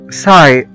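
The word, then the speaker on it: sigh: وزي كلمة ساي، ساي او يتنهد لواحد بيتنهد بيطلع نفس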